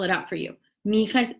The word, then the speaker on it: mija: Mija is M-I-J-A. M-I-J-A. And it's pronounced mija. That is a different sound that we don't have in English very often.